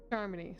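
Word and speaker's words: Charmony: pulling off something big during the Charmy Festival Charmy so that's how it's pronounced or someone else made the invite and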